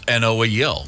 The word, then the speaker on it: Knowles: They lived right across the street from a family named the Knowles, Noel, but you pronounced it Noel, right? Their neighbor across the street was Noel, so it was spelled the same way.